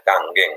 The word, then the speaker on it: Kangen: Ya, tulisannya kangen ya, tapi bahasanya sebenarnya kanggeng. Itu ya orang Jepang bacanya ang ya di belakang kanggeng.